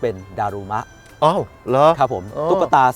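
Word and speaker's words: だるま: นะ ฮะ เดมา เนี่ย พอ มา ถึง า ประเทศ ญี่ปุ่น เนี่ย ออก เสียง เป็น ดารูมะ อ้า เหรอ ครับ ผม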